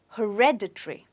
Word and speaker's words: hereditary: it on ha okay when it's supposed to be stressed on red so you say it as hereditary okay hereditary say it again hereditary right so as you notice there is this syllable in between red so if you remember red you'll be able to remember the pronunciation let's look at an